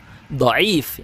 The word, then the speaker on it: dhaif: Dia asalnya hasan, tapi kalau ketahuan ada illah, ada cacat, ya hadisnya jadi dhaif, tidak bisa jadi bukan dhaif itu tadi ucapannya, dhaif benar ya pengucapan.